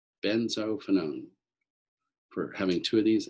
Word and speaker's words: benzophenone: a dibenzo ketone right here we call this benzophenone benzophenone for having two of these and it's spelled b e z no n z o